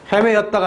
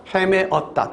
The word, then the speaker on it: 헤매었다: 그렇게 되고 헤매였다가 아니라 헤매었다.